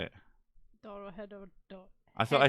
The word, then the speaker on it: Dorohedoro: Dorohedoro.